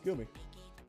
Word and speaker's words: Gumi: Is it Gumi or Gummy? Never actually learned that. Hold on. Gumi pronunciation. Oh, this actually is the software. Gumi. Oh, it's Gumi.